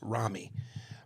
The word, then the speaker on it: Rami: Rami here, pronounced Rami.